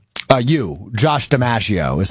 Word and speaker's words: DiMaggio: It is said like one of the most famous baseball players to ever live.